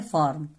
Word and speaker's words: firm: इसका मतलब यहाँ पे आई साइलेंट है, आई का कोई उच्चारण ही नहीं है। इसको हम क्या पढ़े, फॉर्म, FIRM, फॉर्म, ठीक है।